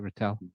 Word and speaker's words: Rattel: Am I pronouncing it right, Rattel? Okay. That's right.